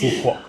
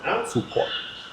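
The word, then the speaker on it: Phú Quốc: So it's pronounced Phu Quoc. Phu Quoc.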